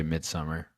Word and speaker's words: Midsommar: Some people say Midsummer. I'm just going to say Midsommar. It's whatever. In the movie, they say Midsummer. They do? Yeah, even the Norwegian people. They say it wrong. Or the Swedish people. They do? I don't know, man. I'm reading it. It doesn't say Summar. It says So.